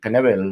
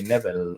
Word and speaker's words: Knebel: Pues también otro relevista como es Corey Knebel o Corey Neville, o no, como decíamos antes, no sabemos muy bien por qué es Knebel, si normalmente en inglés la K esa no se pronuncia, pero bueno, se va a los Dodgers, ¿no?